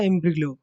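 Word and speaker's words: imbroglio: Next next word है आज का एम्ब्रिलो। एम्ब्रिलो क्या होता है, इसमें जी साइलेंट होता है।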